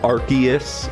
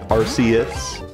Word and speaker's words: Arceus: Also, yes, I pronounce it Arceus. I think it sounds cooler than Arceus.